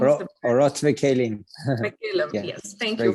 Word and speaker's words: Orot Vekelim: And, you know, I definitely want to make sure I pronounce the name correctly. Orot Vekelim is the name of the band. Orot Vekelim.